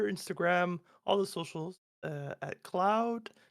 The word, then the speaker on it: Klaoed: me on Twitter Instagram all the socials at Cloud k l a o e know it's pronounced weird that's the name that I came